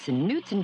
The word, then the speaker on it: Knutson: The K is silent, Adam. It's Knutson cheesecake dessert in a cup.